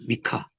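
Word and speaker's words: מִיכָה: 발음 안 하고. 미카.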